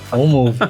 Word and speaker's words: OnMoov: Pronunciei de forma correta? OnMove, é isso aí.